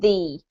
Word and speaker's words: the: thing don't forget that when you have the word the before a vowel we actually pronounce it the so you can really